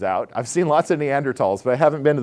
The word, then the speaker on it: Neanderthal: when this was found it was Neanderthal with an H pronounced the same way it comes into English and it becomes Neanderthal and so Neanderthal is